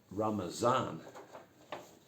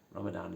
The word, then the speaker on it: Ramazan: see the word Ramadan now ramazan that's how you pronounce it in Turkish Ramadan is the English version or ramazan is a